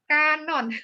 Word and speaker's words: kanon: 2009 tadi bagus ngapain kan bacanya kanon kanan itik dibunuh kanon bukan kanan Kanopan Setia Subhana Tutik